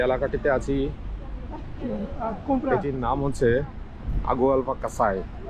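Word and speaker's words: Agualva-Cacém: আমরা এখন যে এলাকাটিতে আছি এটির নাম হচ্ছে আগুয়ালবা কাসাই। অর্থাৎ আমি প্রথম যখন আসছিলাম তখন আগুয়ালবা কাসিম এই টাইপের একটা উচ্চারণ করেছিলাম, বাট ওরা বলে এটাকে আগুয়ালবা কাসাই।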